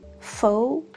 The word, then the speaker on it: faux: The two of the very rare examples would be faux and ru. X at the end in these two words is silent.